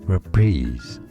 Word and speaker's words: reprise: you say these words it comes from French for reference is how it said and that's why in English it said us reprise so it's kind of between an uh schwa sound and an e sound repeats there's a stress on that second syllable and a z